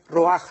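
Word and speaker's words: רוח: es roach, se escribe, se pronuncia roaj en el hebreo.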